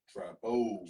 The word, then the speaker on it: Trappo: Trappo. Trappo. Yeah. Okay. Trappo, like So- Chapo.